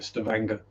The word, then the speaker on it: Stavanger: Well, to pronounce it the English way anyway, not the Norwegian way.